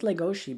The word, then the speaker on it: Legoshi: I think it's Legoshi because in Japanese it's she and there's no C sound.